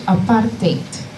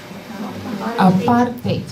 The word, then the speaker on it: apartheid: It's actually apartheid. Apartheid, but Americans say apartheid. No, it's Afrikaans. It's one of our languages, okay?